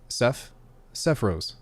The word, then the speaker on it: Sephiroth: It's pronounced Sephiroth, but I love all the pronunciation of hearing so far.